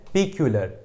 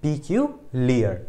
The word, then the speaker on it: peculiar: पीक्यूलियर, पीक्यूलियर है। क्या है? पीक्यूलियर, ठीक है। तो पीक्यूलियर ये क्या होता है भाई, हो सकता है सबकी प्रोनाउंसिएशन अलग अलग हो, लेकिन मेरे हिसाब से इसको पीक्यूलियर ही बोला जाता है, PECULIAR, ठीक है।